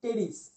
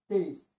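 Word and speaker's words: Pteris: উদ্ভিদ, এর নাম হচ্ছে টেরিস। টেরিস, ঠিক আছে, টেরিস। এটা উচ্চারণ কিন্তু পি উচ্চারণ হয় না। হ্যাঁ, ওই যে সাইকোলজি বানানোর মতো এখানে পি উচ্চারণ হয় না, টেরিস উচ্চারণ হবে।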